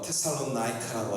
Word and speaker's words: 데살로니가: 다 같이 데살로니가 영어로 읽으면 테살로나이카라고 하는데 영어 발음이 너무 복잡했어요. 그런데 다 같이 데살로니가 바울